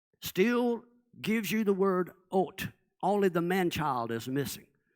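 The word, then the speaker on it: אות: In Hebrew, the signs are called ot, aleph, vav, tav. And even though it's written aleph, vav, tav, the aleph, the Hebrew letter aleph, is a silent letter.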